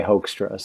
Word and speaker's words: Hoekstra: up on that because I think phonetically if you pronounced it in in English and you were American you would say hoax to us so that's just what I go with now excellent cool so the